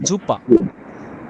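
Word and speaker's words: Super: যেমন এখানে দেওয়া আছে জুপার জুপার আমরা বলি সুপার বলি না এটা দেখেন তো ইংলিশে কি সুপার বলি না কিন্তু ডয়েসে বলা হবে জুপা জুপা ভাইয়া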